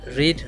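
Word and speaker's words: read: ডিড ইউ রেড? ডিড ইউ, এটাও কিন্তু same হলেও উচ্চারণ স্পেলিং সেম থাকলেও রেড হবে। হ্যাঁ, রিড, রেড।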